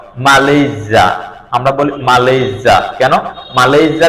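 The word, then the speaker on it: Malaysia: আরেকটা হলো consonant sound যখন এস এর দুই পাশে যখন বাউল সাউন্ড থাকবে তখন এস এর উচ্চারণ জ হবে জ সাউন্ড হবে যেমন ই এই এস ওয়াই ইজি মালজা আমরা বলি মালেজা কেন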